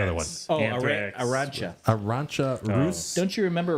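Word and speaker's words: Arantxa: Arancha.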